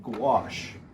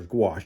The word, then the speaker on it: gouache: The type of paint I use is called gouache. That's it right there, gouache, G-O-U-A-C-H-E, gouache. I tell kids it rhymes with squash.